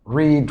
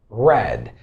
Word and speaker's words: read: Simply we say red. If I asked you, what color is this? Simply you say red. It's the same pronunciation exactly.